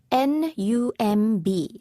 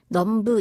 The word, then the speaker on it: numb: N-U-M-B. 그런데 numb 이렇게 발음되진 않죠. B 소리가 안 납니다.